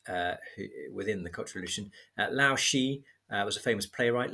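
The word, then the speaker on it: Lao She: Lao Shi was a famous playwright. Lao Shi is spelled L-A-O. She is S-H-E.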